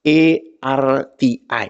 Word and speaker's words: erti: Kan kalau arti, kalau di eja itu kan E-R-T-I. Jadi disebutlah erti. Bukan arti.